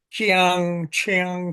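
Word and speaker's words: Qiang: you say that uh the Q is kind of pronounced sh hard sh sound Chang something like that okay so in her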